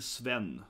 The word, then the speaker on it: Sven: But yeah, it's pronounced Sven.